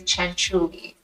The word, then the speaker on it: Cianciulli: you so much for having me and the pronunciation is Chuli Italian CH the perfect last name forer exactly